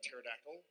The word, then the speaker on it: pterodactyl: I think Sam actually would have had a would have had a pterodactyl. Um because then they don't wake you up when they go to the bathroom because the P is silent.